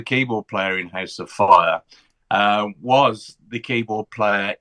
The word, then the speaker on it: Fyah: So, you've got House of Fire and it's spelled FY. I'm dyslexic. You did tell me. And I've got it up here. Tell me how it's spelled, Matt. F Y A H.